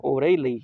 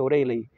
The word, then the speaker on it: O'Riley: E também respondendo, né, não me recordo quem perguntou sobre o jogador do Brington, o o Oraley, né, Oriley, assim que pronuncia, Oriley.